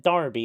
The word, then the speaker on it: Derby: Also, it's pronounced Derby. Oh, yeah. I always forget you guys pronounce it Darby over there.